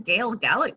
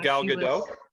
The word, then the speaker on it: Gal Gadot: look message um yes even gail gallick would be a good one because she can she knows the military stuff oh gal gadot yeah okay i said it wrong apparently the wonder woman chick